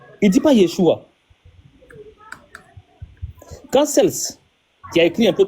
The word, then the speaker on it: Celse: Celus s'écrit C e L S U S Celsus. En français, on dit celse, c'estàd c E l s E. Cels en français, tu vois.